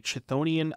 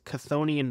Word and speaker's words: Chthonian: sing notably most notably chthonian okay I keep saying this wrong it's cthonian Nightmare and I apologize for saying it wrong in the past and I'm going to try my best to to train my brain to say it correctly but konian nightmare is